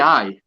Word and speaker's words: aye: We say aye, but it's spelled A-Y-E. Aye.